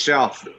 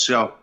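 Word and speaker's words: Rzeszów: it are the yeah the first letters are RZ yeah that was it's pronounced yeah yes sh wow yeah crazy town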